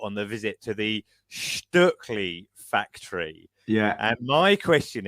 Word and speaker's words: Stöckli: It is Stöckli, because obviously it's a Swiss company.